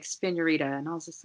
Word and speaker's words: Spiñorita: So right, it's Spiñorita, Spiñorita. Everybody always forgets to put the Enye, but it definitely is spelled with the Enye.